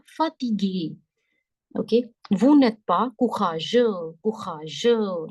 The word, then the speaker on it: courageux: Okay, vous n'êtes pas courageux. Courageux. Last X is silent.